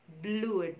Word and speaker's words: blood: Di situ ada double O dan we don't pronounce it as blood, but we pronounce it blood. Jadi di situ double O produces sound A, not U anymore.